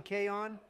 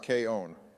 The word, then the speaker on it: K-On: your favorite girl in K on actually Donald it's pronounced K own you've already made it